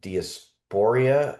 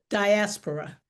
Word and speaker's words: diaspora: A member of the African diasporia. I'm sorry, did I pronounce that correctly? Diasporia. Diaspora.